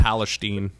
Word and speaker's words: Palestine: like the big It's pronounced news story. Palestine.